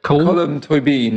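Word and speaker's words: Colm Tóibín: Colm Toibin, is that how you pronounce his name? Colm Toibin, yeah.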